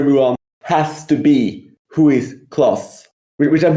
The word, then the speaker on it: Huis Clos: The play, which was adapted to a film, is by Jean-Paul Sartre, and it's called Huis Clos.